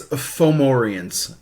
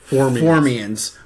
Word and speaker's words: Fomorians: It's Fomorians. Fomorian. They're not Formians, which are big ant things.